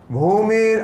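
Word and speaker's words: भूमिर्: If you see na, in you see dash on the top, bhumir. That means you have to say oo, bhu.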